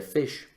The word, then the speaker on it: ghoti: funciona la lógica, pero si tú escribes G-H-O-T-I, ¿sí? Goti. Ok. O-T-I, eso se puede leer fish.